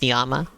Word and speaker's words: llama: the wreck oh God the other rule of Spanish is that two L's together makes a y sound so llama is actually supposed to be pronounced niyama wait what the [